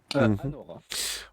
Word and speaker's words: Anora: Je prononcer son prénom dans Honora. Anora.